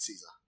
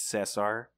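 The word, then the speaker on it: César: Yeah, there's an accent on the E, so it's not Caesar, it's Cesar. Okay, well, I don't talk English anyway. Well, to be fair, I think that's like the Spanish pronunciation, so...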